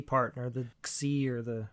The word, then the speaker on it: Xi: Yeah, President Xi, Xi. That's pronounced President Xi.